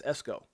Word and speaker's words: Esco: No, it's not Eco. It's Esco.